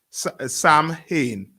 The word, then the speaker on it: Samhain: Samhain. Yeah. SOWIN. Right. It's spelled SAMHIEN. Just scroll up. Samhain. Yeah. AIN. Samhain. Right, but it's pronounced as Samhain.